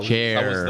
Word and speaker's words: Schär: Yeah, Chair. the pronunciation was.